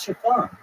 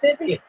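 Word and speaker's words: Siobhan: It's an Irish name. Oh, it is. Oh, how do you say this? It's chiffon. But we'd always be like, oh, that's Sibian. And they're like, yeah, chiffon.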